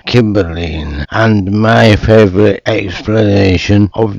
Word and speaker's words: Cymbeline: If you say his name with a hard C, you get Cymbeline.